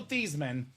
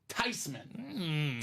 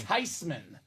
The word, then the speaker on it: Theismann: The proper pronunciation of this man's last name is not Joe Thiesman, is not Joe Theismann. Turns out it's Joe Theismann. Theismann.